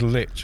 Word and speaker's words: Lich: Apparently a linguist looked into the pronunciation. It is Lich, apparently.